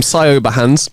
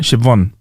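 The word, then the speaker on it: Siobhan: sahans yeah a sahans sounds like a wicked name for Dragon Ball Z but it's not how you say it it's so yeah it's like Shon to it in it there's a bit of a in it right shivon sh sh shiv shout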